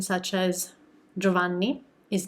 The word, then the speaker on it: Giovanni: do we would say giovanni so when you have a g um a vowel and an i sandwiched in between the two you don't pronounce that i hopefully this helps and